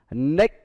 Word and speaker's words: naked: Đó là thứ nhất đó là những cái giờ tính từ naked. Đó, ed được đọc là it.